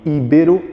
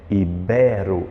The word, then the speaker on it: ibero: Consultei pela internet e íbero ainda não existe é somente ibero eu quero que você circule a sílaba mais forte aí que é o b ibero ibero ela é a mais forte e a primeira como proparoxítono íbero não existe autópsia autopsia gente na